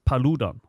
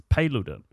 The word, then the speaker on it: Paludan: I thought it was Rasmus Paludan, but it's Paludan. That's Paludan.